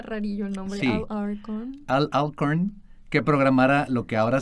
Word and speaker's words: Alcorn: dinero por lo que le encargó a Al Arcorn. Ay, perdón, la la pronunciación todavía me cuesta trabajo. No, aparte está rarillo el nombre Arcorn. Sí, Alcorn que programara lo que ahora se conoce como PK.